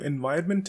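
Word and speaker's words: environment: पर कर देते हैं याद रखें कि इस पेस्ट को बोलते तो एनवायरनमेंट हैं लेकिन स्पेलिंग है एन वी आर ओ एन एम टी हुआ था इसका मतलब है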